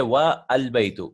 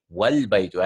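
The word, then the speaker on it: وَالْبَيْتُ: it, such as wow, we won't say wa al-baytu. We will join it. We'll say wal baytu. And the house is pronounced wal baytu. And not wa al-baytu. Wa al-baytu is not right. Right? This is wrong. So we should pronounce this as wal baytu.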